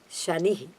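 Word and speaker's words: शनि: do not become victims for that so please pronounce Shani Shanna's Chara ha like that give him more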